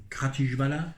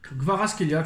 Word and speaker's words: Kvaratskhelia: Donc on va se contenter de, excusez-moi pour la prononciation, Kratishvala. Kvaratskhelia, tu dis Kvaratskhelia, Vara.